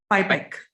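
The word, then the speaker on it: PIPAC: before i start i want to get the pronunciation right it's hipec and pi pike is that correct absolutely so let me ask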